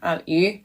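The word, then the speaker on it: 鱼: This one's important because the character for fish, yu, sounds like the word for abundance or surplus.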